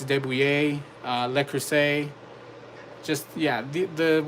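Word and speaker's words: de Buyer: A lot of people pronounce it de Bayer, but it's Debouillet, Le Creuset.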